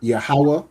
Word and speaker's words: Yahweh: Okay, so it is pronounced as Yahweh, which is, what is Yahweh?